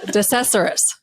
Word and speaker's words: DeCesaris: DeCesaris.